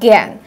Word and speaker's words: জ্ঞান: উচ্চারণ এ এর মতো, যেমন জ্ঞান, জ্ঞান উচ্চারণে আকার আছে, গান না হয়ে এর উচ্চারণ হচ্ছে কি জ্ঞান, এ এর মতো করে স্বরে আটা উচ্চারণ হচ্ছে।